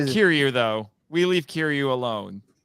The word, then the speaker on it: Kiryu: When I first watched this film, like, why they call him Kiryu? And I hope I'm saying it right. Yeah, Kiryu.